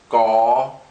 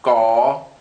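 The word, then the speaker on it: ក: what you see here, which is pronounced gaw, gaw. So I'm going to go ahead and write that. Gaw. So this is actually similar to an English G. It's unaspirated, just a g sound.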